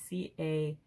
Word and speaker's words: cairn: probably knows that word it's c-a-i-r-n um i think it's pronounced cairn like karen but without the e um whenever you see